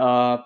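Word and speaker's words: harpe: harp which is AR we don't pronounce the h by the way so at any point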